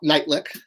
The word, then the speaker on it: Nightlick: my name is nightlick uh pronounced night lick like two words um i've been a